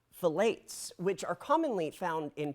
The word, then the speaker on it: phthalates: That's how you say it, phthalates.